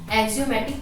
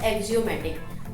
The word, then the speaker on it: axiom: कई बार हम कंफ्यूज हो जाते हैं, जैसे नेक्स्ट ये वर्ड आएगा अभी एक्सियम। ठीक है, ये हम क्या बोलते हैं, एक्सियोम बोलते हैं, बट होता क्या है, ये एक्सियम होता है। ठीक है, तो इसकी जो प्रोनाउंसिएशन है वो आप ठीक से करना फर्स्ट ऑफ ऑल।